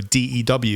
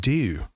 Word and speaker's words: D.E.W.: this is it but they just pronounced it do but yeah I've just